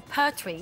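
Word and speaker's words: Jon Pertwee: In a poll in this week's Radio Times, Tom Baker was voted the favourite Doctor, with the late John Pertwee. Is that how you pronounce his name?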